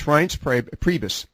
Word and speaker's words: Reince Priebus: I can't quite figure out how to pronounce Reince Priebus. Have I correctly pronounced that one? It's Reince Priebus.